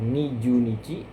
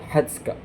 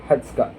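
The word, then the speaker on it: 二十日: Nah, begitu juga di tanggal 20 ee bukan ee nijuhi tapi hatka ya. Hatska, hatuka, hatskka juga bisa.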